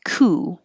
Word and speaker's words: coup: up cup this is ku it's from french so we don't pronounce the p it just sounds like